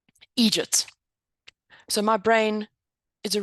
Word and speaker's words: eejit: real jerk in Ireland the way they pronounce idiots is to say excuse me egy so my brain is